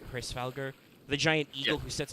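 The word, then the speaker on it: Hræsvelgr: Also, if you think about it, that's kind of funny because there's also, we've mentioned it before, I think it's pronounced like Hrisvalgr, the giant eagle who sits on top.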